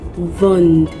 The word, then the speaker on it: vendent: Ils ou elles vendent, we add ENT, but the ENT is silent again.